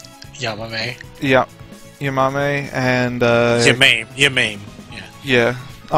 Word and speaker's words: Yamame: how do you pronounce her name? Yamame.